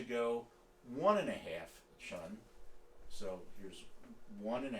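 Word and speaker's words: cun: the width of the thumb it's called a chun it's spelled c-u-n or the between your distal and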